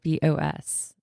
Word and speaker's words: rooibos: someone's not familiar with Rooibos, it's Rooibos.